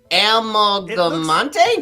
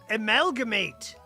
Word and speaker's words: amalgamate: Amalgamante? Did I get it? Amalgamate. It means Amalgamate.